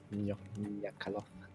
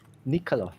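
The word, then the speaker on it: nycaloth: Nyakaloth. What? Mm. The The the demon. the asshole who ran away. Yeah. Nya, nya. Not ni meh? It's nya ha. Actually, it's Nikaloth.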